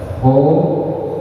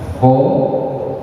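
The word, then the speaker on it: خ: Kalau kita mengucapnya ho, jangan berlebihan, jangan kebanyakan. Jangan mengucapnya ho, wah itu kebanyakan.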